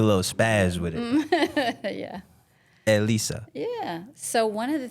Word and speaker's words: Elisa: Like, state your name, like pronounce it, 'cause I can't do Elisa. the accent. Yeah, say it one more time. Elisa. There you go. One more. Elisa. Oh, shit. There we go. Elisa.